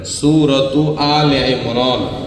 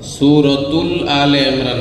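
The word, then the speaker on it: سورة آل عمران: একটু শুদ্ধ উচ্চারণ করে নেন, সূরাতু আলে ইমরান। সূরাতুল আলে ইমরান না, কিন্তু সূরাতু আলে ইমরান, ইমরানের পরিবারের নামের সূরা।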